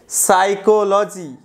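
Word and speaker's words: psychology: সাইকোলজি, এই যে পি এর প্রোনাউন্সিয়েশন নেই, সাইকোলজি। এভাবে এভাবে মনে রাখতে পারেন যে পিসি চলো যাই, পিএসওয়াই মানে সাইকোলজি যাই।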